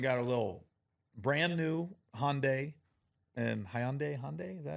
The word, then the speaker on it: Hyundai: So I went and got a little brand new Hyundai. And Hyundai? Is that how you say it? Hyundai.